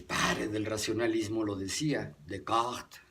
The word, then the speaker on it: Descartes: del racionalismo lo decía de cort se pronuncia en francés decía el propósito de